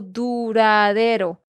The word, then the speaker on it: duradero: Nate, te quiero corregir la pronunciación de una de estas palabras. Es la palabra duradero. Bolívar dejó un legado político duradero.